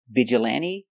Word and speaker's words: vigilante: they're very special because they end with e but the E is not silent we pronounce them all the same with a long e like green beans hyperbole vigilante and epitome today we're going to